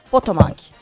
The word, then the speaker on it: Potomac: sobrevoava o rio potomac é assim a pronúncia potomac e se preparava para